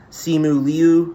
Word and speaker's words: Simu Liu: It's got a stacked cast from Simu Liu, I believe is how you say his name.